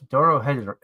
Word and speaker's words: Dorohedoro: And Darren chose Dorohedoro. I can't even pronounce it.